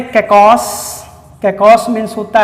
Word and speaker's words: kakos: इनको आप तोड़ेंगे तो उसमें पहला शब्द है कैकॉस।